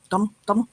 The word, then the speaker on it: Dom: Like it rhymes with tonal, Dom.